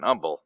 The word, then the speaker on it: Humble: You can always tell somebody from out of town in Humble. They always pronounce the H. Yeah, humble. When they say humble, you know you're a Yankee, probably.